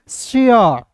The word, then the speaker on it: शेयर: दोस्तों स लिखिएगा और याद रखिएगा अंतिम में ए आर ई दिखेगा तो इसका उच्चारण ए आर के रूप में करेंगे तो क्या हो जाएगा दोस्तों एस एच ए आर ई को पढ़ेंगे शेयर।